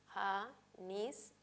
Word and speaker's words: anís: Por ejemplo, en la palabra anís, anís, si separamos en sílabas y reconocemos la sílaba tónica va a ser nis.